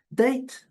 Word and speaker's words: date: quantidade de significados, mas a pronúncia em inglês é date, OK? O A recebe o seu som. É, tá aí. Olha aí. O i recebe, a palavra termina como é, o não é pronunciado. E o I recebe o seu sumo, que é o die, é o, né?